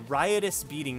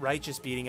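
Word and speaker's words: Riotous Beating: we are able to rius beating not righteous beating I've been saying that wrong for so long and I'm probably going to continue to say it wrong I do apologize but it is rius beating um yeah my bad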